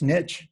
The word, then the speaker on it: niche: Now, I found out recently this is pronounced niche in the States. Yes, in the US. It's one of those Niche. like things like click and click.